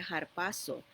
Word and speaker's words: harpazo: En inglés, como si se usa o pronuncia la H, sería harpazo, que quiere decir arrebatado violentamente, llevado arriba.